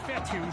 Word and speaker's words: Fetu: minimal pick up so coach fetu spelled f Tu for the longest time I was pronouncing it coach feta like Feta cheese so let's just say